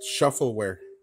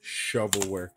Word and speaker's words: shovelware: lot of them are shovelware that's the right pronunciation of uh Shuffle work I used to call it shuffleware because I didn't know the slang yet now I know it's shovelware but a lot of these games you know